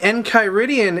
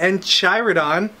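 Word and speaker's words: Enchiridion: uh volume one the en kyian Edition I had to ask Ricky how to pronounce that because I was going to say it was the en chyon uh Edition cuz I know nothing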